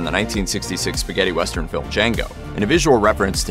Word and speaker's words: Django: to Nero's iteration of Django having his hands maimed over the course of the 1966 film d j a n g o the D is silent I know with Kill